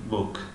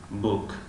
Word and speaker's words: book: و دو حرفی او گوهو او او تلفظ می شود و گوهو بینی او و او تلفظ می شود، مثل کلمه بوک بوک بوک.